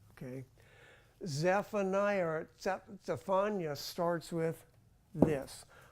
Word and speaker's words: Zephaniah: we are talking about Zephaniah Zephaniah Zephaniah pronounced Sephia in other words it's not even a z did you notice that